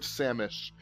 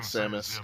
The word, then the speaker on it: Samish: No, Lord Samish. So, gotcha. You thought I said Samus. Gotcha. Yeah, no, Samish.